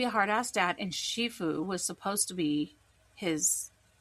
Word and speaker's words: Shifu: Oh, and Shifue was supposed to be Po's adopted dad, which is why they made Shifue.